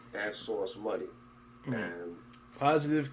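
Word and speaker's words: Sauce Money: I was saying that dude's name wrong for years. I was calling him Source Money. It's Source Money.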